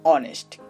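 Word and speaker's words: honest: তেমনি করে দেখুন অনেস্ট, এখানে এইচ বসেছে ঠিকই, বাট কোনো কাজ করছে না, কাজ করছে পরের বর্ণটা।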